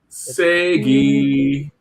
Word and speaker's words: SEGE: And so look at SEGE and say it like you're saying Sega, but replace the A with an E. Segi.